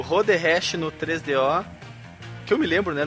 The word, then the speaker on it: 3DO: pessoas pronunciam errado e o cara fala 3DO e não tem acento no O na versão brasileira. Então é 3DO.